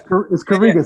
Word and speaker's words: Karega: Well, how am I pronouncing that right? Karega or Karega? Nah, it's all good. Kamai, gonna correct you. Listen, it's Karega.